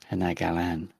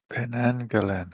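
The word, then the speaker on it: Penanggalan: Penagalan. Panagalan. Penagalan. Anyway, it's a awesome creature. Oh, Penangalan. Okay. Pang. Yeah. Pang. Yeah. Pang. Actually, Panang sounds more Malaysian than the way I pronounced it.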